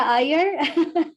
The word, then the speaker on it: Iyer: Liar, did I pronounce that right? Lear? It's Iyer. Iyer, that's not an L on my bad.